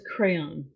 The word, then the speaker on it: Creon: First up is Crayon, and it's either spelled with a C or a K, depends on if it's the Romanized or Greek version. And I know it sounds like a coloring device, but no.